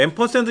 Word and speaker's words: 앰퍼샌드: 근데 앰퍼샌드 연산자를 쓰래요. 이게 뭐야 또? 앰퍼샌드, 이거 앰퍼샌드라고 읽어요? 앰퍼샌드라고 읽어요. 앰퍼샌드. 이거는 이제 AND라고도 읽어요. AND.